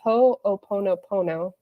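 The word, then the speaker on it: Hoʻoponopono: of this system it's it's supposed to be pronounced ho'oponopono I have been saying it wrong forever my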